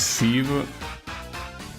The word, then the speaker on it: sieve: It's apparently pronounced sieve. Yeah, well, I pronounce it like that, right? Didn't I? Sieve? Like civilization, right?